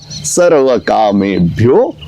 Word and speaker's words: सर्वकामेभ्यः: उसके बाद सर्वकामेभ्यो, सर्वकामेभ्यः भी बोल सकते हैं, वो भी ठीक है।